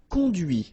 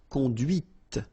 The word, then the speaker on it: conduite: And that's when you hear the difference between conduit, because remember, final T is not pronounced, conduit, here, and then the feminine, conduite. Okay, so here you can listen to this t, okay, conduite.